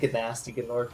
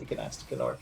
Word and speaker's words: Gnasty Gnorc: I mean, so did Gnasty Gnorc, to be fair.